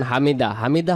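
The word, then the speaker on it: حَمِدَهُ: এরপরে আমরা বলি সামি আল্লাহু লিমান হামিদা। হামিদা হামিদা যদি পড়ি এখানে হা অক্ষরটা বাদ চলে যাবে। এখানে হা অক্ষরকে পরিপূর্ণ আদায় করতে হলে এখানে উচ্চারণটা করতে হবে হামিদাহ হামিদা।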